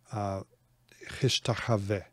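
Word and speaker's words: השתחוה: The v is pronounced. Hishtachave. Okay, you see, you hear the v.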